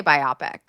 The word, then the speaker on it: biopic: Is it pronounced biopic or biopic? Biopic. Oh, I always say biopic. Yeah, it's biopic.